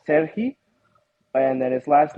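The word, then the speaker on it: Serhii: So you could pronounce it three different ways. Well, two different. You could call it Sergei, or if you want to be like really like super into it, you can call it Serhi.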